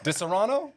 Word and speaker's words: Disaronno: Disaronno?